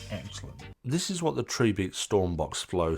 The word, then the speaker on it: Tribit: but it turns out their name isn't actually pronounced Tri bit it's tree beat because their slogan is